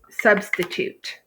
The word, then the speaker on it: substitute: So substitute. Substitute like a substitute teacher. Okay. Your first syllable, sub. Your second syllable, st. Your third syllable, toot.